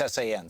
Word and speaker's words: San: It's S-A-N, San, yeah.